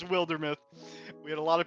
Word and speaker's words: Wildermyth: could pronounce it how they want it's it's wildermuth we had a lot of people pronouncing it wildermuth in the earlier stages of